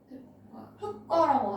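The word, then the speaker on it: 흙과: 얘는 어떻게 발음을 해? 흑과라고 하지, 그렇지? 이거는 왜 흑과야? 뒤에 기억이 왔잖아. 그럼 리을로 발음해야 되는 거 아니야? 흑과 아니야? 왜 기억으로 발음을 합니까? 그럼 왜냐면은 여기 예시를 용례 요거 조항을 자세히 보시면은 어간 발음에서 용언의 어간 발음에서 이렇게 발음을 하는 거거든. 근데 흑과 같은 경우에는 흑이 체언이죠, 그렇지? 그리고 과가 조사란 말이야. 그래서 체언과 조사의 결합이기 때문에 이 조항에 해당이 안 된다.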